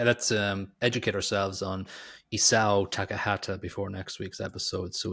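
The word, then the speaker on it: Isao Takahata: Always the same weight on all syllables.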